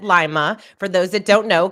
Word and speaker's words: Lima: Is it Lima? It sounds fancier that way, but it's Lima, Ohio.